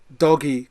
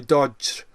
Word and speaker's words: Doge: as the dodgy coin it's called the doggy coin or the dodge or the doji coin it's d-o-g-e coin pronounce it as you wish and it's a cryptocurrency